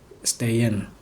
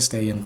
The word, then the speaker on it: Stehen: Berdiri itu tulisannya kan bahasa Jermannya itu ejaannya STEHEN, Stehen. Orang Indonesia bilangnya Stehen, tapi orang Jerman itu biasanya kalau misalnya ada ST itu jadi sh gitu, jadi Stehen, Stehen.